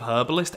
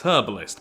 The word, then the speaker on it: herbalist: swapping my pronunciation of herbalist every time I say it. In the UK, it's herbalist, but I'm sure in a lot of other places it's herbalist, with the H not being pronounced.